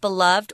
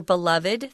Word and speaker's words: beloved: It could either be pronounced beloved or beloved. They're both cool.